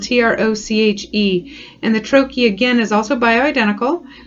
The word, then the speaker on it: troche: bioidentical hormone replacement for men is called a troachy and that's spelled t-r-o-c-h-e and the trochi again is also by identical it is formulated